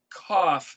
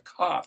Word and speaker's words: Kaf: a het, but and the letter kaf is actually not pronounced like a K like we do, but